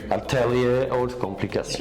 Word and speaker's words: Ataelier Haute Complication: Am I pronouncing it correctly? Ataelier Haute Complication.